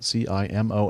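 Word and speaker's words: CIMON: a flying intelligent drone named Simone I would imagine that's the way you pronounce that CI mo and which stands for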